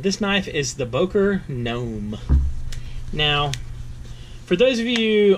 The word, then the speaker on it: Gnome: And this knife is the Boker Gnome. Now, for those of you unfamiliar with gnomes, or the spelling of gnomes, it's spelled Gnome, like opossum, or possum, or pumpkin, or pumpkin.